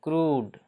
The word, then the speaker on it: crude: जैसे CRUDE, CRUD, यू है, यू से पहले क्या है, आर है, आर है ना, तो इसका उच्चारण क्या है, ऊ। CRUD, तो क्रूड क्या हो जाएगा, CRUDE, क्रूड, इसका उच्चारण क्या हो जाएगा, क्रूड, है ना, यू का उच्चारण ऊ होता है, ठीक।